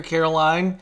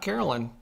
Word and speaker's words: Caroline: to see you here Caroline and I'm pronouncing your first name right right it's not Carolyn oh Megan says her